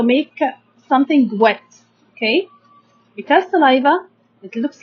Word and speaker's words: saliva: Also, we have in the mouth saliva. Saliva, we can divide it into 3 syllables. Okay, sa. Then we have l, I, li, salai, and then we have the va, saliva.